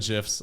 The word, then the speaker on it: GIF: Like it's pronounced GIF.